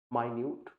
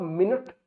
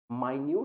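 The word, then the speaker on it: minute: और इसके जो एंटोनिम्स हैं these are tiny, small, माइन्यूट। इसको आप मिनट नहीं प्रोनाउंस करोगे, ठीक है? इसको मिनट नहीं प्रोनाउंस करोगे, इसको आप प्रोनाउंस करोगे माइन्यूट, दैट मीन्स जो बहुत ही छोटा हो।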